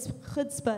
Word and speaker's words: chutzpah: But anyways, other synonyms, if you're still confused what chutzpah, that's how you say it actually. It's like a throat clearing thing, kind of like croissant.